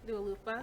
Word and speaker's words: Dua Lipa: So I like Dua Lipa. I always get her name wrong. No, you right. Dua Lipa.